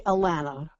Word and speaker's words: Alanna: So I need to ask you a very deep and meaningful question and that is am I pronouncing your Christian name right Alanna? It's actually Alanna. Alanna, okay.